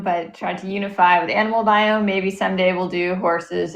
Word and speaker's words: Animal Biome: You guys have just created the next level of that with your beautifully packaged Animal Biome. Did I pronounce that right?